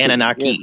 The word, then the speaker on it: Anunnaki: Anunnaki.